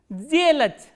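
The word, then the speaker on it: сделать: This voiceless consonant will be pronounced as its voiced counterpart, which is z. So, how will you pronounce this word? Zelach, zelach.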